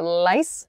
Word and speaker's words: lice: the l sound for lice lice my tongue is touching the top of my mouth lice but and my uh my tongue is behind my teeth uh my my upper row of teeth so lice and rice the two are made very very differently these sounds so